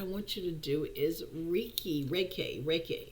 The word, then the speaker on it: Reiki: Okay, another mind control activity I want you to do is Reiki. It's called Reiki. Let me spell that for you.